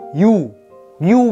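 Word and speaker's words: Yoo: Nhưng mà không có cái họ đọc là họ yo yo yo vậy đâu, mà họ này là họ you you nha các bạn nha.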